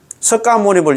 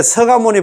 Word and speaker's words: 석가모니: 석가모니을 이렇게 석 석가모니 석가모니 부처님이 어떻다 이렇게 하면 못 배운 사람이다. 그 이야기하더라. 정식으로 배우려고 합니다. 물론 석가모니 이게 서가모니 불 서가모니로 이렇게 발음하는게 이게 약속이랍니다.